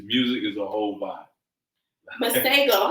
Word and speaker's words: Masego: Masego. How do you Masego. spell that? Just like it sounds.